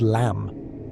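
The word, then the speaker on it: लं: The root chakra sound is lamb pronounced with a long a sound.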